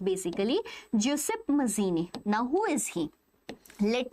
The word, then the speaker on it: Giuseppe Mazzini: Giuseppe it is pronounced basically Giuseppe Mazzini.